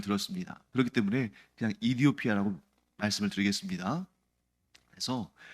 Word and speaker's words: 에티오피아: 그런데 그 선교사님이 뭐라고 답변했냐면 에티오피아는 영어식 표현이고 정작 그 나라 사람들은 이디오피아라고 표현한다라고 얘기하는 걸 들었습니다. 그렇기 때문에 그냥 이디오피아라고 말씀을 드리겠습니다.